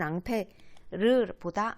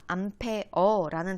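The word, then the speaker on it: ampere: 보통 우리는 앙페르보다 암페어라는 단위를 더 미국식으로 읽는 단위를 많이 써.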